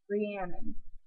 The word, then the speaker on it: Rhiannon: just their accent because in English or in America we're just like re and then but in Wales they're like hurry and no a bit uh